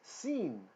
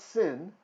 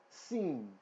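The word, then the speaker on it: שׂ: that's fine okay we don't have to have pronunciation perfect over time it will improve okay the next letter is seen not sin seen this is a long I sound seen okay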